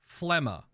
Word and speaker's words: Phlegma: words and old things it's just pronounced phlemma it comes from phlegm which is the you get in your throat and your lungs when you're sick i don't know how